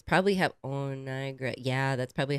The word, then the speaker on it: Niagara: Niagara. Niagara. Niagara. So why are you not saying the A between the G and the R?